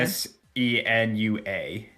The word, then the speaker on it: Senua: to Senus how do you say that uh s e n UA senua sua senua senua yeah senua Saga hellblade